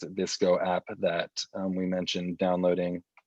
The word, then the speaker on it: VSCO: are going to be in that vsco i pronounce it this go app that we mentioned downloading all right not